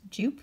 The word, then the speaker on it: Joop: So I always used to think this was pronounced Joop, but apparently this is a German company, I think, and it's pronounced Joop.